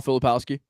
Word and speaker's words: Filipowski: Kyle Filipowski.